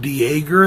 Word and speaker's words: Dejager: Directed by Brett Dejager, I think is how it's pronounced, because it's D-E-J-A-G-E-R.